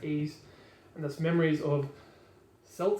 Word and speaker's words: Ys: of people call it wise a lot of people call it probably something else but believe it's pronounced ease and this memories of